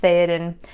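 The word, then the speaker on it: Théoden: So the word Theoden, even though the letter that makes the TH looks a little bit different, it's pronounced Theoden, it means king.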